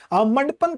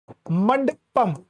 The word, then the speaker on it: मंडपम: स्थान है जिसे भारत मंडपन कहा जाता है। ठीक है, मंडपन ही है ना, मंडपन कहा जाता है। ठीक है, एक तो प्रोनाउंसिएशन है कि अजीब होती है, मंडपम। ठीक है, मंडपम, भारत मंडपम आपका जो है कहां